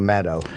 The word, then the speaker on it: Maddow: forever and it's let go its will lie pronounce it was cool apparently on me only one Yeah, I understand that Rachel Maddow has the same problem.